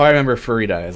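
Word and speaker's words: Farideh: Either way, Farida is like fajita, but with a re. Farida. Wait 1 sec. Be right back. That's how I remember Farida.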